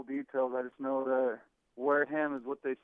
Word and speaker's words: Wareham: It's Wareham, not Wareham, right?